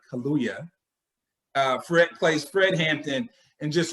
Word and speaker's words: Kaluuya: the movie, Daniel Kaluuya, say his name right, Kaluuya, plays Fred Hampton in just a remarkable way.